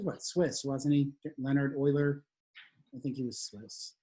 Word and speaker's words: Euler: we're going to do his name is euler but it's actually spelled like this yeah i think he